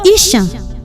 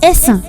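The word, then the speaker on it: Esan: means they fleed away many people call us isan mm wrong the right word is asan asan is an alized form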